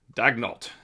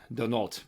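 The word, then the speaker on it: Daigneault: And as long as head coach Mark Dagnalt, Denult, by the way, in France, it's pronounced Dol.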